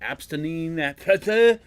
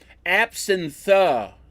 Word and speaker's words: absinthe: Abstinine. Absinthe.